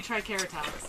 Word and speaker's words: Triceratops: If you go back to the original Latin pronunciations, all C's are hard, so it should be Triceratops.